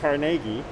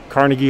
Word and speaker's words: Carnegie: Now, often we'll say Carnegie, Carnegie Hall, you know, Carnegie Mellon. But Andrew himself would have said Carnegie, or Carnegie is how he would have pronounced his name. So you choose how you want to call him. Carnegie, Carnegie, or Carnegie, the good old American fashioned way.